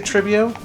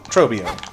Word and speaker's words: Trobbio: Trobio, did I say tribio? Trobio.